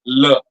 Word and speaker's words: les: Like the masculine article, it is le. Okay, you can take a look how I'm pronouncing it. It's le. The feminine article is la, and the plural article les will be le.